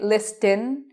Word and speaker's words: listen: I do not say listen. I say it with an S, but no T.